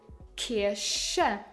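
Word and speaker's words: Kirsche: kiershe church and the second word you read kiersha cherry remember the rule we said c h is pronounced when it is placed after the vowels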